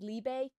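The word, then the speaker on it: Liebe: Yeah, some folks pronounce it as Libe. I hear Liba. Or yeah, Liba.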